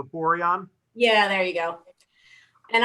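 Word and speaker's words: Boiron: main contact from byron i'm sure i'm not pronouncing that right b o i r o n o borion yeah there you go and i had a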